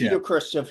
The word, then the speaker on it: Khrushchev: Nikita Khrushchev.